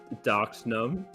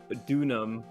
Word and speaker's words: Dunham: I think I said Elise Doxnum. Like, Elise I think it's supposed... Like, I think it's supposed to be like, Dunham.